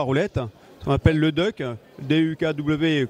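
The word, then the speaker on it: DUKW: ce qu'on appelle le Duck duukw que finalement on prononce Duck comme canard et ça tombe bien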